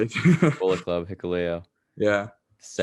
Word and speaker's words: Hikuleo: I'm pretty sure it's Hikuleo. Like that's like how I'm gonna say it. That's But how I yeah, say it. Bullet Club Hikuleo, Yeah.